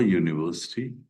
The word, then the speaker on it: university: Look at here, EU, U sound, bilabial, U, and U. We call it bilabial sounds. When you will pronounce these words, both the lips will come forward.